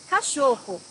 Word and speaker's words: Cachorro: Cachorro, dog. Here you may find the CH, cho, and the double R, ho, a little different for you.